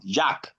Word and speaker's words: Jacques: ES is not pronounced. It is monosyllabic word. Jacques. It's not a K.